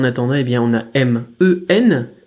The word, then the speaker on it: 们: bien on a M-E-N, M qui se prononce comme en français M, E qui se prononce comme en français E, et N qui se prononce comme en français N. Ça va faire men, men, et il n'y a pas de ton, du coup c'est plutôt facile.